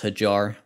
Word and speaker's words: Hijar: them is steven uh ajar i did look up how to pronounce his name it's hijar and he's doing solid